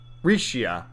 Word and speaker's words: Rixia: Cyrus, Japanese pronunciation for Wazi is correct, and Rixia is Chinese, so the X would be like she. So it's Rixia.